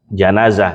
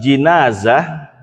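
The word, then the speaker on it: جنازة: Fathi Ismun Lil mayitfi kalau bacanya jenazah itu namanya adalah nama mayit yang ada di dalam keranda jenazah kalau pakai ja fathah ja nya di fathakan kalau pakai kasroh berarti zinazah ya zinazah kalau kita kan enggak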